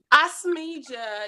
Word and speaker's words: Asmeejah: Asmeejah, I don't want to say your name wrong. Is it Asmeejah? Because you said Asmeejah and I've been saying Asmeejah. Is it Asmeejah? It's Asmeejah. It is Asmeejah.